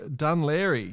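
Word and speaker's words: Dún Laoghaire: I just noticed that the Irish Nationals have been confirmed for Volvo's Dunleary near Dublin regatta, July 6th. Now, do you like how I pronounced that?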